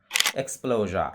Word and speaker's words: exposure: এবং এর পূর্বে একটি ভাওয়েল থাকে, তাহলে এর উচ্চারণগুলো সাধারণত শেষে গিয়ে যা না হয়ে জ্যা হয়। For example, ক্লোজা, CLOSURE, ক্লোজা। Exposure, EXPLOSURE, exposure.